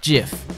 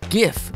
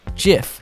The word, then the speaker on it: GIF: guy called Steve Wilhite it was originally pronounced with a soft G as jiff but a lot of people now call it gif with a hard G